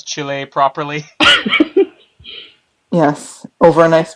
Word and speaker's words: Chile: thing here in Canada, they pronounce it as chili, even though it's Chile.